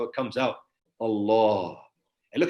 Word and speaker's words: Allah: And look how it comes out, the word Allah. Yeah. And he wrote it for them. And as he pronounced, he said, like the ha, it comes from in the heart.